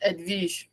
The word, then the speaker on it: Edwige: Sorry, my name is pronounced Edwige. Edwige, that's German, right?